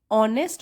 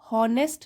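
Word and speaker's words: honest: राधा है एक, simple means साधारण, ऑनेस्ट होता है, ये एच जो है वो साइलेंट है, इसमें हॉनेस्ट नहीं होगा, एच साइलेंट है, ऑनेस्ट, ऑनेस्ट ईमानदार, एंड शाय, शाय मीन्स शर्मीली, और गर्ल लड़की।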